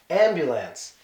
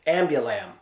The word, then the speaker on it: ambulance: different ways people say it's supposed to be ambulance the ambulance I've heard ambulance that's my favorite ambolyn I was like who